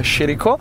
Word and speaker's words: Chirico: I know you'll be calling her Chirico, but I stick with the right pronunciation.